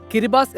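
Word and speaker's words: Kiribati: കിരിബാത്തി എന്നാണ് എഴുതുന്നതെങ്കിലും കിരിബാസ് എന്നാണ് ഉച്ചാരണം.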